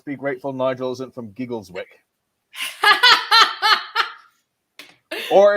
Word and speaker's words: Giggleswick: John says, let's be grateful Nigel isn't from Giggleswick. Or if you're going to go with full-on British pronunciation, Gigglesick.